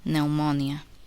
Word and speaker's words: pneumonia: The letter P is silent, not pronounced. In the following words, listen and repeat each word after the speaker. Receipt, psychology, pneumonia, corpse, raspberry, cupboard, sapphire.